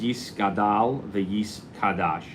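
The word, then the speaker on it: יתגדל ויתקדש: example, are in Aramaic, and it's Yis Gadal v'Yis Kadash. And that's how it's pronounced in Aramaic, and that is their opinion, since most of it's written in Aramaic.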